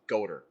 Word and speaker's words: Goder: Yeah, that spelling Goth is actually pronounced Goder. Odor? Goder. It doesn't have an R.